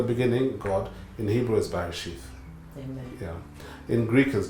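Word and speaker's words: Bereshit: It's pronounced Barashith, but I couldn't get Barashith to be registered, so I had to anglicize a little bit and call it Barasith.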